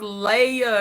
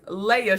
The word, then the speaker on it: Leia: Yes, pronounced Leia, because I had to correct myself because I have been saying Leah's grandma, but hearing it in person, I know it's Leia.